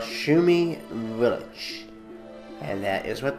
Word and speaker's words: Shumi: was a shumi and yes that's how it's pronounced shumi it sounds like it spelled like it sounds